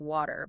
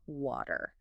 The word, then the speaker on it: water: We might pronounce it more like water, but in British English, it's a clear water.